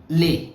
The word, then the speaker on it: les: When the words have s in the end normally the s is silent. If the another word the following word doesn't start with the vowel. For example, this word lei. L e s means lei. So this is pronounced as lei. But let's say if I write ami after that because it starts with a vowel. So that s sound becomes z that becomes leami.